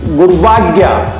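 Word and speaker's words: गुर्वाज्ञा: तो अब जब इस शब्द का उच्चारण करेंगे तो देखिए गुरवाज्ञा, गुरवाज्ञा, गु के बाद में र आ रहा है और वैसे पहले आ रहा है, तो गुरवाज्ञा।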